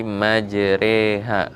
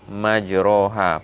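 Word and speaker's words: مجريها: Jadi majreha, bukan majroha. Padahal aslinya itu adalah fathah di situ. Tapi karena ini namanya imalah, bacaannya yang agak asing, tidak seperti biasanya, maka dibacanya majreha.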